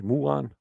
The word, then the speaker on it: muon: Is that the pronunciation, Judy? Muon? Muon, yes. Muon.